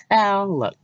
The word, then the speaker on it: talaq: The term talaq, I think that's how you pronounce it, talaq, is commonly translated as repudiation or simply divorce.